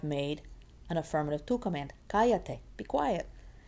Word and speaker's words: cállate: Cállate, be quiet. And now the ca has been shifted over, so 1, 2, 3. It's 3 from the end, needs an accent written down.